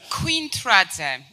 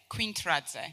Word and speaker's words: Quintradze: It's Quintradze. It starts with Queen. It's easy to remember. And then it's Tradze. Quintradze. Right. Or. Or just. Yeah, so Quintradze.